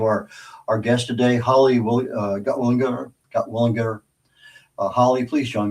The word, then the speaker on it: Gutwillinger: Okay, tell the world your last name because I butchered it and I apologize. You did not. You did very well. It's Gotwalinger.